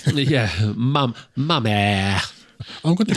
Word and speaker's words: Mamet: you'll find it's pronounced Mamé. Yeah, Mamet. I'm going to pronounce it Mamet just because it rhymes with damn it, and that's enough for me.